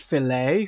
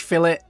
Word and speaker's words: fillet: It's not pronounced filet. Who pronounces it filet? How elegantly French. Nah, it's fish fillet.